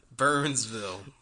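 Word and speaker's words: Byrnesville: was asking for it but it wasn't spelled burn it was b-y-r-n-e no no excuse pronunciation burnsville oh god and it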